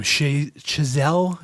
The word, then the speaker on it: Chazelle: Chazelle.